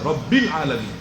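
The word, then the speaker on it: رب العالمين: আলহামদুলিল্লাহি রাব্বিল আলামিন। আপনি কি বলবেন আলহামদুলিল্লাহি রাব্বুল আলামিন এটা শুদ্ধ হবে?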